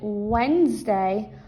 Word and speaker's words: Wednesday: Also, we pronounce it Wednesday, but it's really spelled Wednesday, but it's pronounced Wednesday.